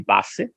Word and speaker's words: Passi: So let me also pronounce it in Italian, maybe. Okay. Yes, please. Sounds more authentic. So the name is 620 Passi.